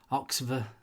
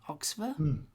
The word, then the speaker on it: Oxva: well, which is the Oxver Origin. I think it's pronounced Oxver. OXVA. Oxver? Oxver.